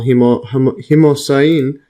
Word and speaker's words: hemocyanin: Oxygen transport systems were long thought unnecessary in insects, but ancestral and functional hemocyanin. See this pronunciation?